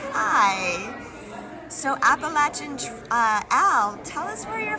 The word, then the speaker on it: Appalachian: This is Appalachian owl.